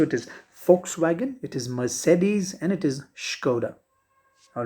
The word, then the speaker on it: Mercedes: the pronunciation here mercedes whenever you see a single r occurring in between and of course right after a vowel sound and in between a